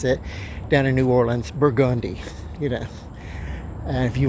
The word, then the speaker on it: Burgundy: you're in New Orleans there's a street called Burgandi and you know that you pronounce that name Burgandi you don't pronounce it Burgundy street but and it intersects with Bourbon Street